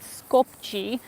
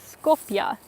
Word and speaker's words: Skopje: i first got here when i said skopji i think that's totally wrong i have heard people say that the proper way is scorpia and that's the way i've heard other people say it here so i don't know